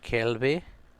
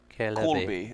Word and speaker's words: Corleby: How do you say that one? Kelby? Corleby. It's an or.